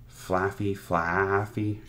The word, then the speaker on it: Flaaffy: I never know how to pronounce his name. Flaaffy. Yeah, like Fluffy.